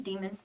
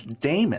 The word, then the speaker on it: Damon: Fair Point his name's demon demon my name is Damon sorry I forgot to add the a Damon redeem Thief extraordinaire it's the E is silent yeah the E's silent but like we just